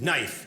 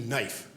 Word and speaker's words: knife: it's kife she goes oh no the K is silent what's it doing in